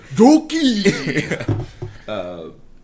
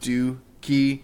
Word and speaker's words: Doki: Every time you talk about it, Doki. Yeah, I'm glad his name is Doki and not Dookie.